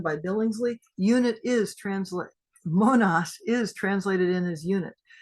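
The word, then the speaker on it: μονάς: is it so it comes from a Greek word pronounced almost the same way as this Monas it's latinized as Monas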